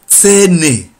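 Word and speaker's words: Zähne: And teeth is tsene. Tsene. Teeth is, you pronounce it like T and S.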